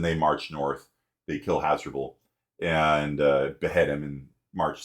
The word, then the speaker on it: Hasdrubal: His crossing was Hadrispal. Do you pronounce that? Hadrispal. Hasdrubal. Hasdrubal. That's it. We need to bring back Hasdrubal as a name.